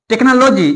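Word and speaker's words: technology: mechanic होता है देखिए टेक्नोलॉजी यहां भी एच साइलेंट है अगर एच साइलेंट नहीं होता तो टेक्नोलॉजी पढ़ता क्या पढ़ नॉलेजी जो गलत होता है ठीक है देखिए केमिस्ट्री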